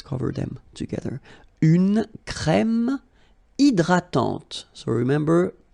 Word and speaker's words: hydratante: Une crème hydratante. So remember, H is not existing, and then this Y is pronounced like E.